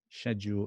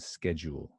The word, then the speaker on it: schedule: Schedule and schedule. And now I don't say schedule anymore. If I've forgotten how to say that, I just say schedule. I'm copying. I copy the Americans on this one, but not with vitamin.